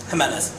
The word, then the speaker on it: Jimenez: Jimenez. So pronounce it like an H.